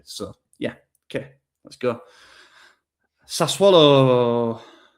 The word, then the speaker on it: Sassuolo: Sassuolo rhymes with problemo.